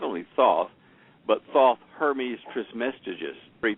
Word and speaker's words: Thoth: was um the supposed Atlantan priest king named Thoth. They also attributed Wait a minute. Spell spell that spell that name. Is it T H O T H?